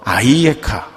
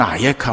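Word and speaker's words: אַיֶּכָּה: 그래서 아이에카 혹은 아예카 이렇게 발음이 되기도 하는데요.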